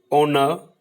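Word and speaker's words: honour: Next, honest, ऑनर, आर, एयर, इसमें H silent है।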